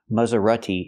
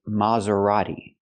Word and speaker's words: Maserati: it is not pronounced Mazerati in America we say Maserati so the first syllable is more open not M but Ma use the open Sound a like hot and stop ma Mazerati and the